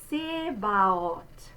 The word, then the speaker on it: Zebaoth: Now, this backwards looking C is what we call the open O. Now, we have the closed one, O, Minnesota. If you open that up, O, O. That's that sound. So, Sebaot. Meine Seele verlangt und sehnet sich.